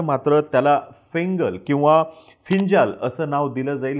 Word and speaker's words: Fengal: आहे आणि त्यांनी त्याला फिंजाल असं नाव दिलेलं दिसून येतं त्याचं spelling F इ एन जी एल जरी असलं तरीसुद्धा त्याचं प्रोन्सिएशन फिंजाल असं आहे आता श्रीलंकेवरती ह्याचा मोठ्या